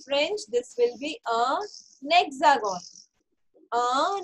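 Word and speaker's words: hexagone: Hexagon. Okay. So in French, this will be a hexagon. A hexagon. Okay. H. H is silent. We all know H is silent.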